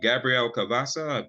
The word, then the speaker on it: Gabrielle Cavassa: But with Gabrielle Cavassa, have I pronounced her name correctly?